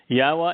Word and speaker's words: Yahowah: part of his family yahwah is the almighty's proper designation pronounced as instructed by his Torah on his higher existence